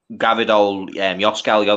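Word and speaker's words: Gvardiol: Gavidol, Gavidol, yeah. That's how you pronounce it.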